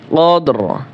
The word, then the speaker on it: قدر: قدر রা জের রি উচ্চারণ হবে না, শুধু র উচ্চারণ হবে।